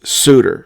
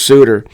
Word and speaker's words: Sutter: u tt R but it is definitely pronounced sudor so it's Howard Bruce suder uh not a good